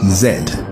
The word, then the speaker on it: zed: Finally Romans gave it its final form as Z or zed if you speak the native Afroasiatic English tongue that is from the Union square.